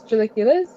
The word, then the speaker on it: chilaquiles: Yeah, actually, one of my favorite dishes that I had a lot when I was in Mexico City is chilaquiles. Or How do you pronounce it properly?